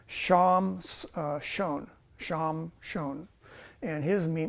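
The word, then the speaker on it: שמשון: Um, Avdon or Abdon means surviile or hard slavery uh uh Samson in Hebrew is actually pronounced sham uh shon sham shon and his me name means a splendid son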